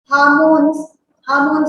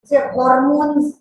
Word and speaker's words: hormones: Plasma contains protein, salt, salt, comma लगाइए, comma, हार्मोन्स की spelling HOR, हॉर्मोन्स बोलना थोड़ा अजीब लगता है इसलिए इट इज हार्मोन्स, लेकिन स्पेलिंग जाएगी HORMONES एटसेट्रा. Full stop.